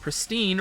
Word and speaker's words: pristine: In it, it informs announcers that pristine rhymes with wine.